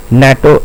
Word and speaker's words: NATO: it's an MP3 and here in NATO summit natto as a word we pronounce natto as a word which starts with a consonant sound.